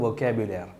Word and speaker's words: vocabulaire: எனவே வொக்காபுலேர், இந்த பூ என்பதற்கு பாருங்கள், தமிழில் பூ என்று சொல்ல முடியாது. எனவே தான் நான் ஆங்கிலத்தில் பியூவை போட்டு அப்போ புலர், வொக்காபுலேர். வொக்காபுலர் என்பது சொற்கள்.